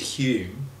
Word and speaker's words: Hume: And that is pronounced in Scotland, Hume.